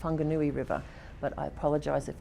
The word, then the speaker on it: Whanganui: or someone from North America, you might say Wanganui, with an Australian accent, that's what you'd say. But I am told with great authority by both Maori and other New Zealand colleagues that it's pronounced Whanganui River.